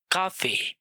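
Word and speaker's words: Café: Rule number 1, जब भी से के बाद आ, ओ और ऊ आए तो उसको प्रोनाउंस किया जाता है का। Example काफे, काफे।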